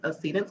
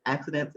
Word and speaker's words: Accedence: And Accede has a meaning, for me, and people call it accidents. It's not pronounced accident.